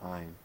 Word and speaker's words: Ayn: Um, I used to pronounce it Ayn Rand, and then the movie corrected me. The correct pronunciation is Ayn, which she renamed herself.